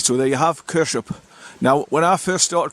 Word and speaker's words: Kershope: you pronounce it kers kers like k a r s e it's kers kers up